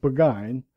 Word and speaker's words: Burgoyne: had a famous foxhound named Burgoyne he pronounced it began which my informant used